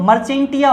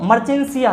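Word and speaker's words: Marchantia: है इसको हम लोग मर्चेंटिया पढ़ते हैं। क्या पढ़ते हैं, मर्चेंटिया पढ़ते हैं। शुद्ध प्रोनाउंसिएशन इसका मर्चेंटिया होता है, या हम लोग इसको मर्चेंसिया कहते हैं।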